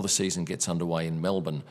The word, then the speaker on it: Melbourne: So that's a bit of a wrap on what happens before the season gets underway in Melbourne, or as the US people would say, Melbourne. It's definitely pronounced Melbourne.